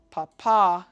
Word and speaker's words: papa: And my favorite, papa, has emphasis on the second syllable.